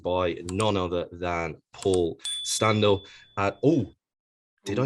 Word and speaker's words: Standell: I say Paul Standell, but whatever.